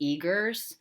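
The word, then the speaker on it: Uyghurs: there are 1 million I think it's pronounced Eagers I've mostly read about this and so I'm not positive about the pronunciation but Eagers are a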